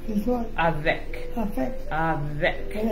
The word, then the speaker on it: avec: Now in French, the word with is avec. Is what? Avec.